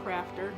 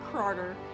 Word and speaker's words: Craughter: means crying Plus laughter put together so it's pronounced a crafter not Carter as some people have been pronouncing it and